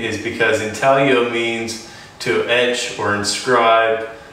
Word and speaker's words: Intaglio: reason why we chose that name is because Intel yo means to edge or inscribe that kind of